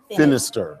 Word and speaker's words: Finister: Miss Tamika Young Finister. Right, it rhymes with sinister.